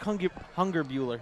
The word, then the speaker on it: Hungerbuehler: I'm probably pronouncing that wrong, nope. and I apologize, nope. Isaac. Isaac Hungerbuehler.